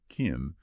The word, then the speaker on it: can: Now, for I can in this sentence, can is an auxiliary verb and it's usually unstressed. So, we don't say a strong can. It gets reduced often sounding like can. So, I can becomes I can.